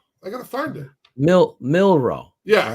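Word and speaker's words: Milroe: something like that I gotta find it mil milro yeah right milro so he's their quarterback now going forward right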